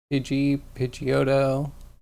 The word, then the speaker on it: Pidgeotto: Well, Pidgeotto, Pidgeot. That's how I pronounce them.